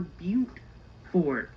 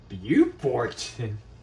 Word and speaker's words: Beaufort: And now we're jumping off of Interstate 95 and we're signed for Charleston, South Carolina, and we're signed for Beaufort. Beaufort? No, that is pronounced Beaufort.